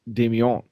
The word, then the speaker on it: Damien: regularly but yeah TJ I'm French my name is pronounced Damian go ahead Josh I'm